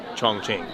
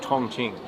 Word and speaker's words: Chongqing: I would like to say we are loving Chongqing. Oh, great pronunciation. Thank you. I'm working on it. It is great. My pronunciation of Chongqing.